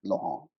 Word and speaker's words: Laurent: Normally you'll spell it as Lauren, but Hmm. it's pronounced Laurent.